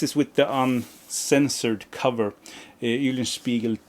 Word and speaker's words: Eulenspiegel: Eulenspiegel 2, yes, that's how you pronounce it, with that cocky backside there.